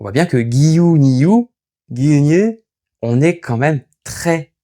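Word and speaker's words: 牛乳: lait, je devrais dire Giyu Niyu. Giyu Niyu. Parce que le U est allongé. Dans la réalité, quand ça se prononce, c'est Gyunyu. On voit bien que Giyu Niyu, Gyunyu, on est quand même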